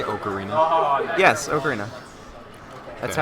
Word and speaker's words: ocarina: Yes, Ocarina. That's Okay. how the Anyway, moving on. that's how the word is pronounced in Italian, so, you know.